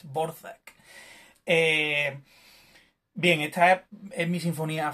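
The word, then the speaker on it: Dvořák: Sé que parece que pone Dvorak, pero no es Dvorak, es Dvorak.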